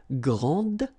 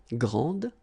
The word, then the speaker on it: grande: And regarding the feminine form, you will pronounce it grande. Okay, don't insist on the final E, but then pronounce this D, grande, and then exactly the same pronunciation, grande.